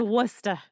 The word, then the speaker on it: Worcester: no ours and there's not that's why it's Worcester Worcester there you go just so everybody knows Lauren and I will be pronouncing our R's in this episode because we're